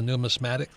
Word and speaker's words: numismatics: And Dana Samuelson, he is the president of American Gold Exchange, also past president of the Numismatics. How do you pronounce that, Dana?